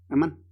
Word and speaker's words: amén: Amán. Amán. Lo voy a pronunciar así como se escribe.